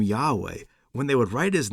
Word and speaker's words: Yahweh: And people have been doing this for a while, but oddly enough, Jehovah is not the Lord's actual name, and it's not pronounced that way in any language. It's Yahweh or Adonai or Lord, or like our Bibles.